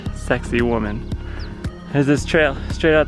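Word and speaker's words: Sacsayhuamán: guide book last night that that's pronounced sexy woman has this trail straight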